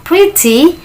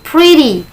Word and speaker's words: pretty: Jadi, cara baca pretty itu ada dua. Boleh kita bilang pretty, boleh kita bilang pretty. Kalau kita bilang pretty, suara T tetap T, maka itu menggunakan British.